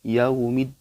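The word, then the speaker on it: يَوْمِ: fathah diikuti Wow sukun fathah diikuti Wow sukun dibacanya harus jelas Oke ditekan Ucapkan husukkuni tekan jadi lebih ke huruf u ya uh uh jangan sampai yao yao atau kurang jelas jauh meet yaumid Gak boleh ya TPS jelas yaumid yaumiddin gitu ya Coba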